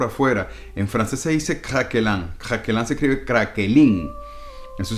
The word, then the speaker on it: craquelin: Esta manera de hacerlo con la galletita por afuera, en francés se dice craquelin. Craquelin se escribe craquelin.